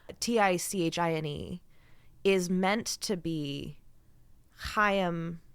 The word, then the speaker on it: Chaim: is meant to be Chaim, I think that's how you pronounce that name, Chaim, Chaim? Yep.